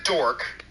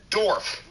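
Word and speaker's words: Dorff: steve calderon who writes stephen dork oh i'm sorry i pronounced that dorf stephen dorf called black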